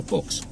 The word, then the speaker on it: Fuchs: So, mate, I'm just gonna go down to the store and get some Fox oil. You what? You know, Fox.